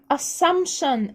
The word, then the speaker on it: assumption: assumption، البي silent between two consonant فالبي تبقى silent. assumption.